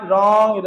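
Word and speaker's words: wrong: अंग्रेजी में डब्ल्यू के बाद आर आने पर अक्सर डब्ल्यू की साउंड बहुत हल्की हो जाती है। इसीलिए उसे बोला नहीं जाता है। मतलब डब्ल्यू का उच्चारण नहीं होता है। जैसे एग्जांपल देखिए डब्ल्यू के बाद आर डब्ल्यू के बाद आर डब्ल्यू के बाद आर डब्ल्यू के बाद आर डब्ल्यू के बाद आर राइट रॉन्ग रैप रीस्ट है ना रेक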